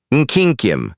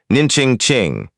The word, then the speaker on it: Nkyinkyim: "Nkyinkyim," he said, pronouncing it correctly. "Nkyinkyim," and looked up.